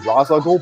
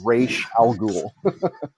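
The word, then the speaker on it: Ra's al Ghul: a university and asked what is the proper pronunciation of this character's name i always thought it was razzagle but it actually is indeed rache algul so oh yeah that's weird i mean i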